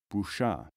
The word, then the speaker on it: bruja: Such people would be most accurately described in Arabic and in medieval Spain as brujo, masculine, or bruja, feminine, pronounced at the time brucho, brucha.